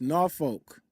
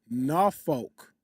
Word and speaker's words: Norfolk: It's pronounced Norfolk. Virginia. You almost You got to almost cuss when you say it. Norfolk.